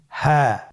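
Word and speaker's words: هاء: হা। হা হরফটি উচ্চারণের ক্ষেত্রে অবশ্যই বারিক হবে এবং এক আলিফ টেনে পড়তে হবে।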